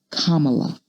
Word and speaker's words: Kamala: do just that first my name is pronounced kamala like the punctuation mark it means lotus flower